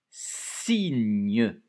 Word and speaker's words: signe: Un signe. 2 syllabes, hein, avec une lettre muette à la fin. Un signe. Le gne, et vous pouvez vous aider de la fiche pour le gne.